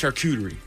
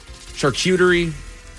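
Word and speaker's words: charcuterie: It's not cute. It's shakuterie. Yeah. How else do people say it? Shutoerie.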